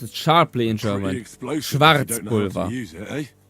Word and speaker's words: Schwarzpulver: Schwarzpulver. The Germans would pronounce the R with the throat. Schwarzpulver.